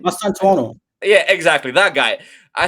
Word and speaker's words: Mastantuono: And then Mastu, how do you pronounce his name? Mastantuono.